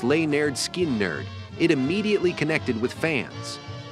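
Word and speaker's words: Lynyrd Skynyrd: their debut 1973 album pronounced L nerd skin nerd it immediately connected with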